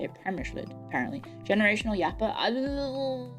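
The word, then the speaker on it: Přemyslid: Premyslid. That's how you say it. Premyslid, apparently.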